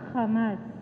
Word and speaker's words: Hamas: kasi alam ko po yung kamas o hamas dito sa Philippines pero yung pronunciation po sa israel is hamas Alam ko po na